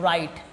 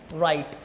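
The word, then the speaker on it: write: देखो लिखते तो है डब्लू से। है ना? ना डब्लू लेकिन पढ़ते क्या है? राइट। क्या पढ़ते हैं इसको? राइट। वो क्यों पढ़ते हैं? अभी वही चीज देखे कि एस के बाद और आर से पहले अगर डब्ल्यू आ जाए तो उस चीज को हमको क्या करना है? डब्ल्यू को साइलेंट करना है।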